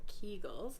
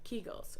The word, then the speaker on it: Kegel: stress very near incontinence are told to do more keegels or kegels as they're actually supposed to be pronounced and the truth is